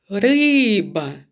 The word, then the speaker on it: риба: риба вірно два склади який склад наголошений риба вірно наголошений перший склад слово кошик скільки складів